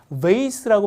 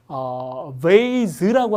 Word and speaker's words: vase: 이쁜 꽃인데 이 꽃병을 뭐라고 하냐면 우리가 이제 학교에서 배운 건 미국식 중심이니까 실제로 꽃병을 우리가 vase라고 발음하거나 아니면 vase라고 하셔도 돼요.